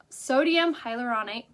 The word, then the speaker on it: sodium hyaluronate: to say this for you guys hylaronate hyaluronics sodium hyaluronate which is a water retention property it's an